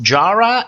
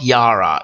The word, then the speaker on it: Yara: years nobody remembers that it's pronounced jara and not yara yet everybody keeps saying